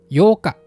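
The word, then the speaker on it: 八日: Kalau untuk tanggal dibaca yoka, atau 8 hari juga sama, yoka.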